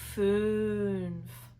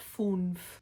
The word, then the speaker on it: fünf: Did you hear "acht"? Not "act". Also "fünf", not "funf". At this point, I'm going